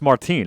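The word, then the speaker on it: Martín: what his first day I think it's pronounced Martine actually teen Maldonado I thought he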